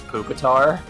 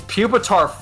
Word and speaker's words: Pupitar: kid and there was this kid that kept pronouncing uh Pupitar's name as Pucar. Puketar.